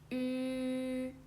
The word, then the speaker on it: ü: Okay, so so for the ü, there is a small pronunciation tip. So if you think it's difficult to pronounce it, so you can try this little tip. So first, you can make a long e. You can make a long e. To make a long e sound and without stopping, okay?